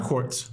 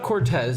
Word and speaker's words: Corts: it's not Z. It's not Cortez. I'm not Hispanic. At least I don't know. But there's no E.